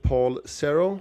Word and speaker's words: Paul Cerro: So, we're going to have a discussion with Paul Cera. Is that the right pronunciation? Uh yes, that is that is how you should I should be pronouncing it, yeah.